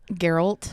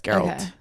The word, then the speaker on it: Geralt: games what's his name geralt geralt you're right but it's pronounced with you pronounce the g g geralt yeah it's geralt and I think Henry